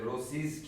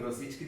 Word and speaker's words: Grosicki: liglerinde oynuyor kendisi Sivas Aslında rosis diye okunuyor ama biz ona yıllardır grosicki dediğimiz için grosicki diyoruz hatırlatmasını her seferinde teşekür Ed